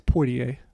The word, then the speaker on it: Poitier: No, I pronounce the first I. It's Poitier.